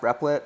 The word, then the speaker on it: Replit: i use personally in my windows machine it's pronounced replit all right my bad lag oh the meaning